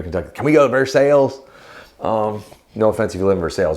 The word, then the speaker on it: Versailles: Well, no, in Kentucky, though, they have a town called Versailles, but they pronounce it Versailles because it's Kentucky. Anyway, I always find that hilarious whenever I go to Kentucky. Can we go to Versailles?